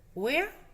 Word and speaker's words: where: Where? Where. Acordaros que la R no se pronuncia.